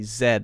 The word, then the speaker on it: zed: only other difference is they often say Zed instead of Z so they'll say H